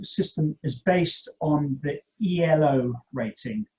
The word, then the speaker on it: Elo: is based on the elo rating it's actually not an acronym it should be pronounced in ello rating if you google